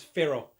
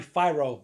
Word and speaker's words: FIRO: going to pronounce it it's pharaoh it might be fyro but it's pharaoh f-i-r-o and if you